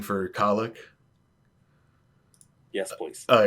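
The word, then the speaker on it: Cailleach: like a spelling for colic yes all right uh colic is spelled uh c-a-i-l-l-e-a-c-h it's one of those one of those fun Gaelic words that doesn't pronounce anything like it looks um dictionary thank you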